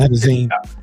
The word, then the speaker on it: nitazene: When we look at the demographics of the, nitazeene? Is that am I pronouncing it right? Yeah. Mm-hmm. Nitazeene. It's spelled Nitazene.